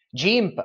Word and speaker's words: GIMP: browser google chrome libreoffice gimp o game in funzione della sua pronuncia per il ritocco digitale